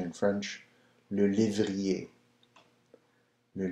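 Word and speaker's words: lévrier: a right so the Greyhound nothing like the pronunciation in French blue livery a new livery a right number seven lucetti and I believe if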